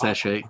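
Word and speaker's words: sachet: Is it like a little satchet of tea? Yeah. Oh my god, it's pronounced sache.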